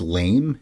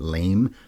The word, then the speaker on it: Lame: best supporting actress Jennifer I guess it's lame La m not L but lame her editing I think